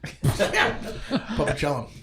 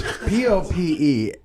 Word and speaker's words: Popelouchum: Oh, just like it sounds. Popelouchum. That's Popelouchum.